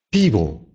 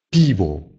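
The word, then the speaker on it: piwo: «Пиво», «пиво». Тоже «пиво», только произносить надо четко «о». «Пиво». И тут «п» становится мягким.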